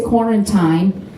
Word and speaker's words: quarantine: to do with the quarantine. I say quarantine because it rhymes with wine, and I'm sticking to it.